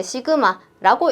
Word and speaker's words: 시그마: 그래서 요거를 우리가 읽을 때 이제 시그마라고 읽을 거고 아 얘는 합이에요.